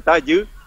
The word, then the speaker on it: Tayú: No, no, nosotros pronuniamos la Y como U. Creo que es un Ah. poco difícil de pronunciar. Entonces es el Tayú, Tayy.